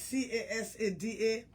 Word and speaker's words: Casada: By the way, my name not spelled with K. My name is C-A-S-A-D-A.